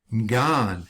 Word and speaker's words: garden: It's cognate with the English garden, which many non-rhotic English speakers today pronounce as gan, leaving out both the R and the D sound, as in Boston gan.